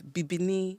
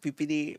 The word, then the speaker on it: Bibinee: Cuz I don't want to embarrass myself because So, the true pronunciation is Bibini. There we go. Bibini.